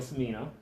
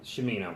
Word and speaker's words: Cimino: wine cellars with Cimino right Jim you know shamino I'm sorry that's okay and family in the South States to me knows the true Italian pronunciation is like church okay Jimmy you know